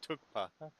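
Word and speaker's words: thukpa: It's pronounced tukpa.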